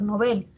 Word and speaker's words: Nobel: Eso pasa, por ejemplo, con Nobel, que nosotros muchas veces pronunciamos Nobel y no se escucha que se pronuncia Nobel, ¿no? Sin embargo, si verificamos en el diccionario panhispánico de dudas, esa palabra, su origen es aguda. Esa palabra es aguda, o sea, la pronunciación debería ser Nobel.